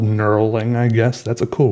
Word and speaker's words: knurling: or sometimes that's called knurling, I guess. That's a cool word. Say it with me. Knurling has a silent K at the beginning, which is also fun.